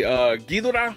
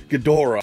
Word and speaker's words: Ghidorah: We've got Invasion of Astro Monster, which is basically Godzilla versus they say two different ways. You can say Ghidorah or Ghidorah.